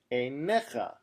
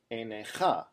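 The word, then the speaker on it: עיניך: This word is pronounced einecha, not einecha. If we look to see where the siluk is, it's underneath the nun. So we immediately realize that this is a mil-el word, which means what? It means that the second to last syllable is emphasized.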